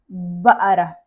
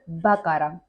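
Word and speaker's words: بقرة: The second one is ba'ara. Ba'ara or bakara. There are some countries they say bakara, okay, but there are some countries or like so many dialects they say ba'ara, ba'ara, okay.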